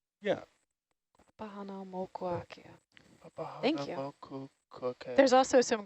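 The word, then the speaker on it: Papahānaumokuākea: Papa Hanau Mokuakea. Yeah. Pahana Mokuakea.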